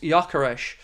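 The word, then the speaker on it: Gyökeres: As is Swede, Gakarez is pronounced Yakareesh.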